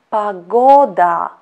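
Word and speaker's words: погода: the last word is pagoda pagoda pagoda which means weather weather stress is to the second o and our last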